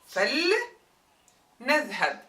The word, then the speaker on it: فلنذهب: فلنذهب. Normally it's لنذهب. But when that li is preceded by fa, that kasra turns to a sukun just for an easier pronunciation.